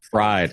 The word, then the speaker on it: Fried: I say it fried fried as in eggs yes oh as in how it's spelled okay okay no that's